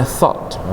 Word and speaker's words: thought: Hilangkan gehnya itu dulu. Walaupun ada tulisan geh di situ, cara bacanya biar jelas, TOT bacanya apa? TOT Indonesia, tot gitu ya. Tapi agak H dikit. Tho ditambah H di ujung, pakai H juga.